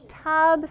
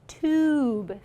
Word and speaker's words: tube: Ooh, I heard some students say tub feet. Let's look at our spelling. I see that silent E at the end. So that makes the U give it a long vowel sound, tube feet.